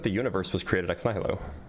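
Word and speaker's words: nihilo: Um, so why do you think that the universe was created at Nylo or Nilo, I guess, is the more accurate pronunciation.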